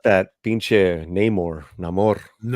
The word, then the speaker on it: Namor: not that pin neyar namore you say it like you got you got to say it like you're underwater yeah there we go